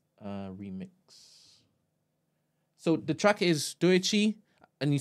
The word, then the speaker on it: Doechii: All right, so Doichi, oops, wrong one. I know I'm pronouncing her name wrong. Doichi, what it is. remix. So the track is Doechi, and you spell it Doechii.